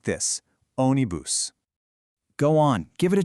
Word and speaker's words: ônibus: Now, for the pronunciation, see that little accent on the O? That tells you where the emphasis goes. So, you say it like this. Onibus.